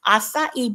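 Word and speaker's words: açaí: It's pronounced acai berry. If you want to look it up, it's ACAI.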